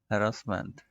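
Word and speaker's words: harassment: इसको हैरस हैरस्ड हैरस्ड, हैरासमेंट हैरासमेंट, हरासमेंट लिखा होता है, हैरासमेंट पढ़ते हैं।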